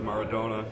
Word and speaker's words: Maradona: I saw a picture with you with Maradona. Yeah.